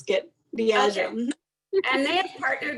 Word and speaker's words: Diageo: Diageo.